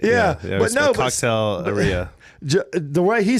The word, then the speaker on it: Cocktaileria: Cocktaileria, yeah. But you said it right. Yeah. But no, Cocktaileria.